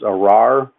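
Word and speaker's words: ארר: 3, is the Hebrew 779, and the Hebrew pronunciation is arar, and it's a pretty short definition.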